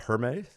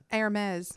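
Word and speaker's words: Hermès: Hermes. Hermes. Hermes. It's spelled Hermes.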